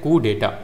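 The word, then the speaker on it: coup d'état: ही रहता है तो फिर इसे कहते हैं कुडेटा फिर आपका वर्ड आता है डेजाव डेजावू डेजाव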